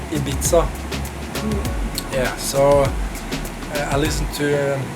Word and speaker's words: Ibiza: Not that typical tropical, but more the Ibiza, how do you pronounce it still? Ibiza? Ibiza. Ibiza. Yeah, you know, in Norwegian we say Ibiza.